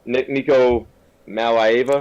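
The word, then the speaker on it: Nico Iamaleava: Nico Malaiva.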